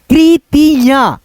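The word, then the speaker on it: कृतियाँ: मात्रा ठीक है दोस्तों ये चंद्रबिंदी की मात्रा का उच्चारण नाक के सहायता से किया जाता है जैसे कृतियां कृतियां ऐसे करके अब यहां पे देखो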